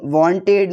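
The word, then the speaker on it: wanted: Baked, लेकिन वांटेड में ई बोला जाता है।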